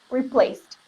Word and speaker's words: replaced: A pronúncia dele, você tem que fingir que esse AD aqui é um T. Aí, mais uma vez, enganando seu cérebro. replaced. É como se fosse um ST. Replaced.